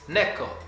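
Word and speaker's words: 猫: one syllable mao but in japanese it's not one syllable it's two it's neko how do we know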